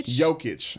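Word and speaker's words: Jokić: joking is how you say his name okay joke it I don't care how good he is I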